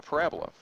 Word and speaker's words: parabola: Okay, please have the emphasis on the correct syllable. Parabola, not parabola. Parabola would be like if you had a set of bowls, 2 of them, but this is parabola.